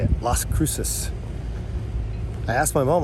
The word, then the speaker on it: Las Cruces: GPS finally told me how to say it Las Cruces I asked my mom like six times how do you pronounce it and she knew it would just